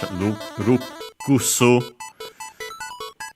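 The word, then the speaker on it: ルクス: Notice also, by the way, the doubling of the consonant, unlike in English, rukusu.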